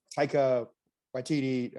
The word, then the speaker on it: Taika Waititi: But Rick, you brought up the new Taika Waititi.